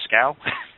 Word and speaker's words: Schow: so I pronounced ing your last name wrong this whole time it's scow I don't I don't